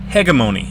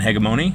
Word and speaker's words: hegemony: unit from the Marian Hegemony. And I pronounce hegemony with a hard G because it's a Greek word that's spelled the same and everything, and I don't like pronouncing it with the soft G.